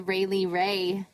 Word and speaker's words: Railie Rai: Make sure you So, guys yeah, check folks- out the Rayleigh Ray Facebook page. It's RAILIE RAI, I think. Yeah, that's what it's spelled like on Yay.